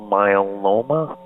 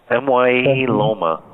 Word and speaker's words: myeloma: cancer, kidney cancer, multiple myeloma, renal myeloma. Did I pronounce it right? MYE loma. myeloma. Yeah, that's not what I was thinking.